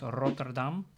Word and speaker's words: Rotterdam: If I pronounce the name of that nice city in the Netherlands, Rotterdam, the R is the first letter, so I can use the rolling R, the R, Rotterdam.